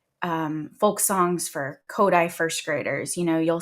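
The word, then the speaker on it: Kodály: great kid songs um kodai which is not spelled like it sounds at all it is spelled k o d d-a-l-y kodai is a method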